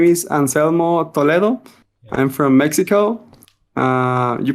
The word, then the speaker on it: Anselmo Toledo: as you mentioned um Roseland my name is Anselmo Toledo I'm from Mexico uh you pronounce it well it was a a good